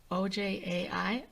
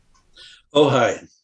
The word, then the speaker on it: Ojai: Following 3 years at Olcott, he moved to, don't know how to say that, OJAI, or how do you say that, John? Ojai.